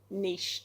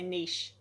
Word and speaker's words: niche: And to do that first, you need to niche down. Now, I'm an Australian, so I say niche. Americans say niche. Niche. I'm going to say niche.